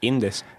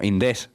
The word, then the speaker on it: Indés: Indes. No, Indés, con tilde en la E. O sea, con tilde no, con acento en la E.